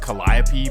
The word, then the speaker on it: Calliope: And that takes us to the famous Calliope projects. And again, it's supposed to be pronounced Calliope, but this is New Orleans.